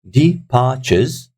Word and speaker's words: departures: For example, departures, departures, look, departures. So if you hear me, departures, departures. So the second syllable has got stress on it. We're saying it louder.